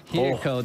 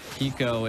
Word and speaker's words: Hiko: The pressure by Hiko there. And then. Oh, that's. Oh my God. Hiko does it again, G. Oh my God. You know, Hiko's name's almost like Iko, but spelled with an H, and I love it.